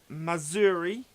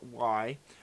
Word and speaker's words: Mazury: Today we are taking a first look at Mazury. I think it's pronounced. It's Mazury.